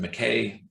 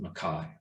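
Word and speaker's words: MacKaye: named benton makai m-a-c-k-a-y-e you would pronounce it mckay probably uh intuitively but he pronounced it makai makai was also trained as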